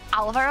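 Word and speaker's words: Álvaro: Do you know Alvaro? I think the accent is on the A because usually in Spanish it goes automatically on the second syllable. Um, but it's on the first one.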